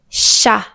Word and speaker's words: chat: Par exemple, dans ce n'est pas chat, c'est chat. Chat, on ne prononce pas le t final.